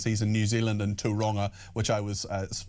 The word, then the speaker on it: Tauranga: Dave in Tauranga, which is apparently how you pronounce it.